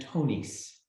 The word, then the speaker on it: Tonis: did you say that do you say the s okay Tony's